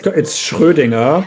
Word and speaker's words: Schrödinger: I mean, I could tell you it's Schrödinger because I'm German and I can tell you how it's pronounced, but oh my it's not.